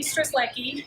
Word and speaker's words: Strzelecki: can have two movies my name is stress likey and some of you know it's not as scary as it sounds and so those who